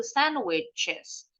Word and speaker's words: sandwiches: Kalau general English, pengucapan itu sandwiches. Tapi ada beberapa yang bilangnya bunyinya jadi J. CH-nya nih jadi J. Sandwiches. Sandwiches. Betul dua-duanya.